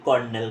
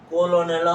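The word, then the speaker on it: colonel: যেটাকে বলে আসো কি কর্নেল কর্নেল কর্নেল আস এটা কর্নেল না কলোনেলও হবে না কর্নেলও হবে না এটা হবে কারনেল সি ও এল ও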